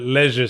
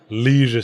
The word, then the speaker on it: leisure: the Sierra offices yeah I persistently call it Leisure Suit Larry because I think the original American pronunciation Leisure Suit Larry doesn't scan as well I prefer the shorter vowel sounds legend Larry I think it scans better I think it kind